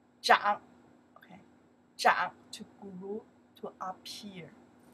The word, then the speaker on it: 长: For example, before we learn this one, this character pronounced the chang means the long. Right now, we pronounce this character zhang.